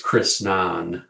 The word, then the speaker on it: Chrisnan: But as you were reading, I checked in the book, and it looks like you just missed a letter N, but it is Chrisnan, not Chrisan.